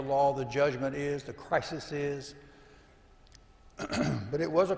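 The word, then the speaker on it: κρίσις: Now judgment, that word judgment, if you look up in the Greek, it sounds like crisis. Crisis. Even the Greek pronunciation is crisis.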